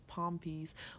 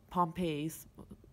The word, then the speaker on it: Pompe: type 2 which is Palm peas which is Pompeii's however you want to pronounce it which is kind of